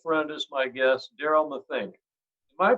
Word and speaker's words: Matheny: have an old friend as my guest daryl mathink am i pronouncing the last name right daryl oh you